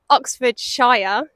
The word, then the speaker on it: Oxfordshire: excited we are in Oxfordshire so I say it like Shire because we are here with